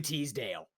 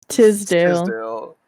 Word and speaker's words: Tisdale: easy one let's see everyone wanted ashley teasdale you're saying it wrong by the way what tisdale is yeah see not even